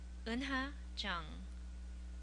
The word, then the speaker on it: Unha Jang: to pronounce my name unha Jang unha this contains a vowel that doesn't exist in English the easiest way to